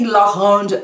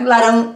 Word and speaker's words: laranja: Baton, man sagt nicht laranja, man sagt laranja. Laranja. L-A-R-A-N-J-A. Laranja. Yay! Perfekt! Laranja. Laranja. Baton. Baton. Laranja. Laranja. Laranja. Laranja. Ran. Also ihr müsst den R üben.